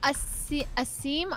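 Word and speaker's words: Asim: in the game next is it a seam a sim there we go um there's a lot of ways you can pronounce it but i don't really mind okay i've always said a sim i'm probably wrong no you're right um where are you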